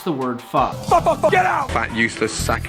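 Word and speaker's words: phở: I'm going to make Vietnamese pho. I'm just kidding. It's pronounced pho.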